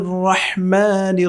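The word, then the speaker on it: الرحمن: খুবই পাতলা হবে বিসমিল্লাহ বিসমিল্লাহ বলা যাবে না রহমান রহ বিসমিল্লাহির রাহমান বলা যাবে না রহমান র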